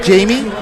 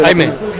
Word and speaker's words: Jaime: This is Jamie. Jamie, ¿cómo se pronuncia tu nombre? Jaime.